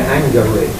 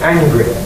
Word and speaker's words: angry: y to anger but we don't say angery we say angry that's because it's become